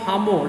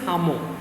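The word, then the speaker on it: Lhamo: by the name of hamo remember l is silent so the name is pronunciation is hamu okay gave the author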